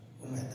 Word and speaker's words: حمیدہ: والدہ گرامی کا نام حمیدہ ویسے عام طور پہ حمیدہ کہہ لیا جاتا ہے لیکن صحیح تلفظ حمیدہ ہے مولانا جعفر صادق